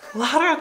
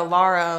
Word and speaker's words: Lara: I like the way that Lara is pronounced in German. Lara. If you say it Lara. Lara. You don't know. I don't know if you Laura. Say it Lara, Lara or Laura. I think that's an American thing.